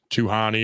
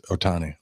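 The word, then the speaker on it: Ohtani: I think they will rattle, you know, Tuhani or whatever the hell his name is. I can't pronounce it. It's Otani.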